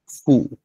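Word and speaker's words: ふ: আচ্ছা, এরপরটা হচ্ছে হা, হি, ফু। হা, হি, এরপরে হু হওয়ার কথা, হয় রস্যকার হু হওয়ার কথা, কিন্তু এখানে উচ্চারণ হচ্ছে ফু।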